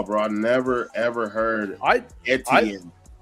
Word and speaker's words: Etienne: It We said Etienne, but it's now it's Etienne.